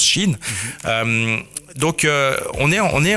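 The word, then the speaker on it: Shein: Enfin, le là, je parle de ce qu'on écrit Shine, mais certains disent Shine, mais ça se prononce Chine.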